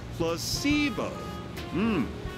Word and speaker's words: placebo: to our vocabulary today repeat after me placeo H the stress is on the middle syll very good you're figing